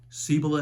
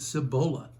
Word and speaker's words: Cibola: Regional pronunciations for example I'm from Georgia where Lafayette is pronounced Lafayette in Kentucky Versailles pronounced Versailles and in the Cibola National Forest the locals pronounce it Cibola help your narrator out